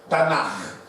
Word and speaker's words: Tanakh: Tem esse nome estranho e se pronuncia, a junção de K e H é Tanakh.